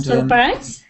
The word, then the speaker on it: surprise: And surprise. Surprise. Yeah. Don't stress the beginning. So you want to s stress the ending.